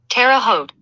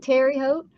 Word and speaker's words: Terre Haute: Terre Haute. Not hoe. Hoot. Terre Haute.